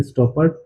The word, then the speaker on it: Stoppard: तो सबसे पहले ये जो प्ले है ये किसके द्वारा कंपोज किया गया था, तो टॉम स्टॉपर्ट द्वारा, इसका ये प्रोनाउंसिएशन है स्टॉपर्ट, टॉम स्टॉपर्ट द्वारा ये प्ले कंपोज किया गया था।